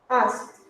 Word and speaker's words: asked: Asked. Like with final T.